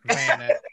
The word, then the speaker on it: Vanek: I've always said Vanek. Is that right? Yeah, pretty much. Not Vanek. Okay. No, not Vanek. No, just Vanek. Like almost one syllable. Vanek. Vanek, yeah. Like that fast.